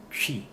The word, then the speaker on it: Twi: If you don't know how it's pronounced, you'll be saying twi, twi, twi, twi, but it's actually chi. So so ts, the tswi, chi, chi kind of spells much simpler to me.